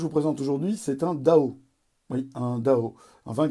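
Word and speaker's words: Dão: Pour bien prononcer Dao, il faut être enrhumé, ou s'appeler Jean Gol, ou avoir ses doigts dans son nez.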